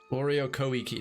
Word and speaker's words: Ori o Koiki: Oreo Koiki, that's the pronunciation.